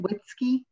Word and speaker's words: Witzke: Anna, is it Witzke? Winsky, yeah. Okay, I said it right.